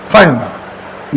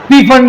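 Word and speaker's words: Pfund: Lyman बामर कशियन bracket फंड इसका पी silent है पी फंड नहीं बोलना आपको फंड पी फंड ऐसा कुछ नहीं बोलना है फंड पी इसका क्या है साइलेंट जितनी भी लाइनें आ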